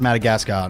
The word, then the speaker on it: Madagascar: they break our special quarantine rules yeah it's pronounced Madagascar not matter who now we move on to